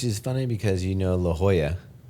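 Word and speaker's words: La Jolla: Hana, which is funny because, you know, La Hoya, you don't call La Jala.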